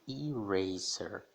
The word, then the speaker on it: eraser: Por exemplo, na palavra que eu já falei aqui, já pronunciei, eraser. Ou seja, ele está tendo aquele som de I, né? Que é o que a gente lê nas vogais. I, eraser, eraser.